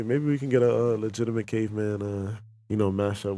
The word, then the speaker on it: Leigitimate: dot dog and then i got legitimate but it's not spelled legitimate it's spelled l-e-i-g-i-t-i m-a-t-e the the lady yeah that's the lay-in there you see it okay